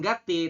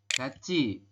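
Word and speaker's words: 같이: Gati ini kan Gati cuman menurut aturan baca ini dibacanya bukan Gati tetapi dibacanya adalah GCI robun ya gaci Ga Ci nah seperti ini gaci dibacanya ya jadi si tiet ini Kalau bertemu dengan vokal i tiet di akhir ketemu dengan vokal I maka si tiet itu berubah bunyi menjadi cieet G Ci gayo gayo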